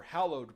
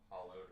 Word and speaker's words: hallowed: holy technical some say hollowed or Hollow but it's not supposed to be hollow hollow means you know empty uh the a graveyard